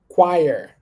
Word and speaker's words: choir: two three all right we going to say choir choir can you repeat after me choir this might be a new word to you